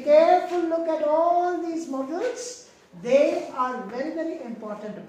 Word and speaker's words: modals: We don't pronounce it as models, but it is pronounced as models.